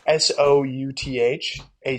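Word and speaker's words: Southack: do you spell that it's s o u t h a c k so it's like South a yeah oh all right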